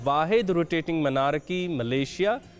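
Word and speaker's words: Malaysia: Pronunciation क्या है इसकी एग्जैक्ट? कुछ लोग इसको मलेशिया बोलते हैं, कुछ इसको मलेशिया बोलते हैं। इट्स एक्चुअली मलेशिया जी बिल्कुल।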